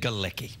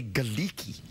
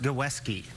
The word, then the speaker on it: Galecki: But I have this urge to say Galecki. That would be wrong. I know. But where I think it was originally pronounced Gawesky.